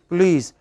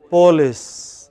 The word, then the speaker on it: police: when you don't pronounce p o l i c e how should it be pronounced please but many people from maharashtra andhra pronounce it as polis you remember that famous